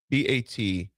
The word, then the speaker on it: Bataan: And if it's pronounced, I said to hear you, because baton or batan, BATAAN.